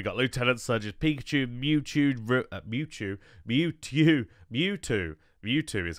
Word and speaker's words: Mewtwo: We got Lieutenant Surge's Pikachu, Mewtwo, Mewtwo is how you say that Pokemon's name.